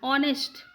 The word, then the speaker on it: honest: Honest and air, here it starts with the letter H, but the pronunciation is what?